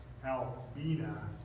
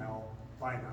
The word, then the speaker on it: Albina: And Albina was named after his wife and his daughter, whose name, they actually say, the family says it's pronounced Albina. It's not Albina, but of course it's been sort of changed to its more popular pronunciation today.